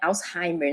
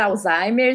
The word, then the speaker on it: Alzheimer: Alzheimer, tudo bem, mas é uma palavra alemã, então é Alzheimer, né? Alzheimer. Mas se a gente tiver a dificuldade da pronúncia, né? Podemos falar Alzheimer sem problema algum, o mais importante é sermos entendidos.